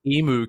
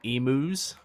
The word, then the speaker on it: emu: Well, how do you pronounce them differently? Emu. Emu. With a you put a little diphthong into it.